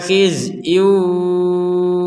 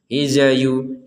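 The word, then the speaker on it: خزي: Khizyu walahum, huruf zainya jangan dipantulkan. Hizayu, hiza, gak ada itu gak ada, langsung saja mati sudah itu.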